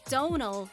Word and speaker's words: Domhnall: too eight domhnall gleeson you see the way his name is spelled and you're probably thinking to yourself how in the world do you even say that well you heard it early in the title it's domhnall gleeson when asked why his